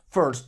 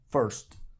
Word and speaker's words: first: r entonces decimos First First boca de o pero pronuncia una e First y para tercero decimos